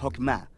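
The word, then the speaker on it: חכמה: Qué es esta fuerza en hebreo se pronuncia hokma y usualmente se traduce al español como sabiduría es un atributo de Dios que Dios usó para crear al mundo y hokma ha sido entretejida en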